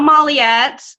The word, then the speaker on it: Molyett: calls me everyone calls me Molly yet I know that the last name is really